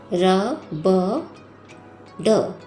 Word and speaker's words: रबड़: हम और भी उदाहरण लेते हैं बच्चों, जैसे देखिए र ब ड, र ब ड, बिंदी लगाने पर इसका उच्चारण होगा र ब ड़, रबड़।